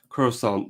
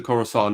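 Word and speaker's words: Khorasan: It's spelled a little differently, but it sounds like Corusant. Uh, yes, the Corusant is this region where you see Mashhad.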